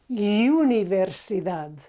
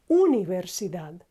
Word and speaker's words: Universidad: don't know University no in Spanish it's not Universidad it's just Universidad there's no you there's just so universi done